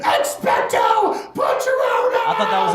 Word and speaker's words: Expecto: part of this scenario you can't say expect a patronus and just be like yeah expected terms it's always going to be like expecto i thought that was